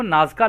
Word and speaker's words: Nazca: तो दोस्तों इंग्लिश में इनको नाजका लाइंस बोलते हैं।